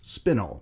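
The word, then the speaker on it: spinel: correct my pronunciation as the word is actually pronounced spinnel in episode 49 I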